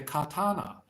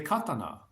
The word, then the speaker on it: katana: Japan some people say Katana some people say Katana so some people the emphasis is on different syllable depending on where you are in Japan uh favorite sword always